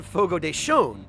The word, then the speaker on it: Fogo de Chão: did that video on Fogo de Chão. Because that was how I learned that the tilde over a vowel in Portuguese means that the vowel is pronounced with an additional N sound.